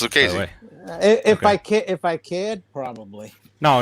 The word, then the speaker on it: Lucchesi: Have you gone to Google to do the pronunciation? I do that all the time. It's Lucchesi.